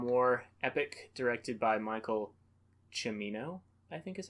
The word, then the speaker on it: Cimino: On how to pronounce his name. Yes. Michael Cimino. It is Cimino.